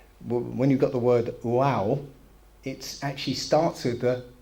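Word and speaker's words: Waw: Okay, there's this character called, you pronounce it wow. Okay, wow.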